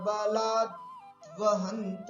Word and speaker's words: बलाद्वहंत: ऐसा करेंगे, बलाद द आधा है वो पहले बोल दीजिएगा, मतिज्ञान बलाद्वहंत, और फिर वहंत बोल दीजिएगा। अलग करके बोलेंगे ना तो बड़ी सुविधा होगी।